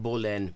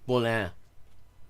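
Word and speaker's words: বলেন: not bolen, bolin.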